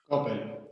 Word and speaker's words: Coppel: writer for, let me see if I can pronounce this properly, Colección Isabel y Agustín Coppel. Coppel, yeah.